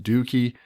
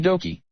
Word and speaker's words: Dokey: pronounced okie dokie okie dokie Doki Doki okay so I'm back so we're definitely going to pronounce it Doki if you watch this